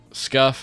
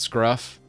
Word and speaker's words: Scuff: it's kind of my my deal scuff not Scruff I said it right they're they're scruffy